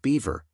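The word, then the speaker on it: Biewer: inches weight 48 pounds a viewer pronounced Beaver Terrier May initially resemble a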